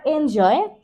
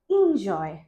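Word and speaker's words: enjoy: recitation তারপরেরটাকে বলি আমরা এনজয় এনজয় your day but that's also রং এটা হবে ইন ইনজয় এনজয় ইনজয় your day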